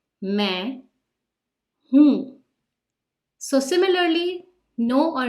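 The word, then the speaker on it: मैं: at the end but they both have a nasal sound and you can see the dots in the Hindi script meh hmm so similarly no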